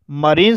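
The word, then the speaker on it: marine: मरीन शब्द में आई का उच्चारण आई ना होकर के ई हुआ है और इसलिए इसे मरीन पढ़ा जाता है।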